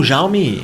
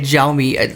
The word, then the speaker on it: Xiaomi: Oh, Xiaomi.